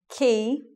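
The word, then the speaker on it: quay: to say these French words with their different pronunciation so let's take a look at this word this word is key and this is a place where boats come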